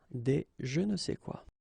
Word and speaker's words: des je ne sais quoi: Okay, and then phonetically, of course, it's the same pronunciation. Okay, un je ne sais quoi, des je ne sais quoi.